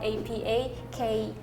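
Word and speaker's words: apa khabar: So does that affect a little bit how you pronounce that word? No. I think Really? it's still apa kabar. Yeah. Like the H is silent.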